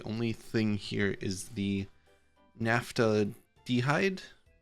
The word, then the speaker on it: naphthaldehyde: So really the only thing here is the naphthaldehyde. Naphthaldehyde, that's how that's pronounced.